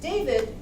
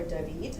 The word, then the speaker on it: David: David, or David, as he tells me is the right pronunciation, has developed a novel